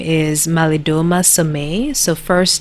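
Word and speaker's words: Somé: his name is malidoma samay so first name m-a-l-i-d-o-m-a last name is s-o-m-e accent on the e and he is a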